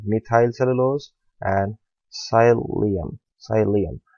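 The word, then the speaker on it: psyllium: cellulose and saya Liam sigh Liam right P is silent here sigh Leah and thence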